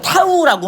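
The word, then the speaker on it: τ: 그래서 돌림임의 크기 요 기호를 어떻게 읽냐? 그리스 문자로 타우라고 한대요.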